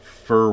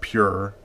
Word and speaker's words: Phure: water on the website I thought it was pronounced fer water like pH as in faux fur I